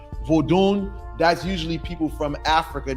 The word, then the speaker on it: Vodun: I'm being serious right say vodun that's how the Africans pronounce it you know what I'm saying usually when you hear somebody's pronouncing vodun that's usually people from